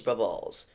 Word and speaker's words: BruballZ: Hello everybody, my name is BruballZ, now pronounced as Brubballs, and today we are spinning a wheel.